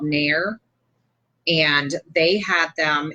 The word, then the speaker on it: NAEIR: Not only do we still use laminators, we have, I have one that I got from this company called Nair, and they had them.